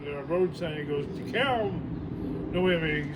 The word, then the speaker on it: DeKalb: Matter of fact, on the way here, Bob suddenly goes, he looked at the road sign, he goes, DeKalb.